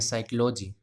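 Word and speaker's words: psychology: इसी प्रकार से इसको क्या पढ़ेंगे, साइकोलॉजी। क्या पढ़ेंगे, साइकोलॉजी। तो पी साइलेंट हो गया, साई के लिए देखो, से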